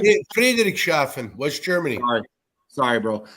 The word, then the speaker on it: Friedrichshafen: kid from, oh my God, I can't even pronounce this right. Please help me out. Friedrichshafen, is that right? Yeah, Friedrichshafen, West Germany.